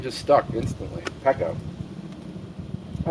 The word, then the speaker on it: Pekko: It was 2 syllables, easy to say. Pekko. And it kind of rang true with the homebrew past. And that name just stuck instantly. Pekko.